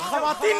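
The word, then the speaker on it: خواتین: लेकिन यही वाव जब खवातीन में ख के बाद आता है तो कभी खामोश नहीं रह समझ तो बिल्कुल ऐसे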